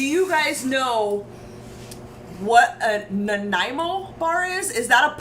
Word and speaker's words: Nanaimo: Nanaimo bar? I wanted to call it a Nanaimo, and then I went and looked it up, and it's Nanaimo, I think.